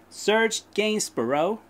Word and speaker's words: Serge Gainsbourg: This is Serge Gainsbourg, Serge Gainsbourg with Histoire de Melodie Nelson. Exactly like that. That's how you pronounce it.